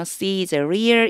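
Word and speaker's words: Caesarea: 전했어요 until he reached sear 요거는요 sear 이렇게 읽는데 가이사라 뜻이에요 너무 다르죠 발음 우리 영어로 발음하는 거하고 우리 말하고 너무 달라요 그래서 제가 요렇게 써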